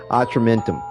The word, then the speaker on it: Atramentum: I think it's a short A. Atramentum.